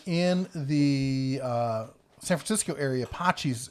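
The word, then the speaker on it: Patxi's: the San Francisco area Pacis is the closest you're gonna get that's spelled PA T X a is it's a great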